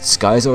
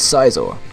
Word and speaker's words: Scizor: But obviously people are like, no, it's not Skyzor, it's Sizor, etc.